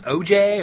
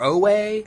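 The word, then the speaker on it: Ojai: On the West Coast, and I believe you pronounce this OJ or Owe, O-J-A-I. I'm going to pronounce it OJ.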